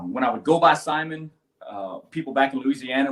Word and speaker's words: Simon: is spelled s-i-m-o-n um so anywhere outside of louisiana you would expect that to be called simon and uh but down in south louisiana we don't pronounce anything the way that it's spelled as you probably can imagine so my last name is actually pronounced simon so it's french it's got a like a french twang to it so uh when i